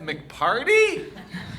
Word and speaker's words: Carty: not wild part animal my last name does rhyme with party you but uh mcarty sweet album for your